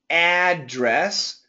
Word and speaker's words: address: what is your address both intonations are possible some people say address some people say let me change my color here some people say address okay so in this sentence both are acceptable now as a verb this is a verb I will address the people and this situation it must be address I will address I